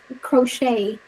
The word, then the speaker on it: crochet: And that um about you know making clothes, crochet c Crochet.